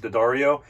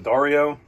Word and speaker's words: D'Addario: about my pronunciation of d'addario i think i'm saying it correctly now uh i had always read it d a dario or daddario uh but i guess it's the dario um it's not like